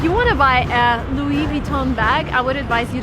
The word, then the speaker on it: Louis Vuitton: of the shop is Louis Vuitton again everything is French come on so everything needs to be pronounced in the French way if you want to